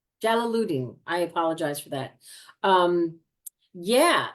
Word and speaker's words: Jalaluddin: How do you pronounce her last name? Jalaluddin. Jalaluddin.